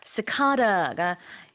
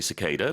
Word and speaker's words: cicada: I think in the US they normally say cicada, but I grew up learning cicada. You say cicada, I say cicada.